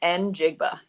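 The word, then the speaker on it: Njigba: say his last name and it's just n jigba and then Jackson Smith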